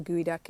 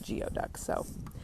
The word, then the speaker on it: geoduck: never looked up a gooey duck it's spelled differently than you would think it's geo duck and